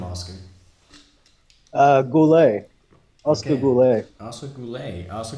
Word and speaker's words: Goullet: how do you say your last name Oscar Goulet ask a blue lake also cool a also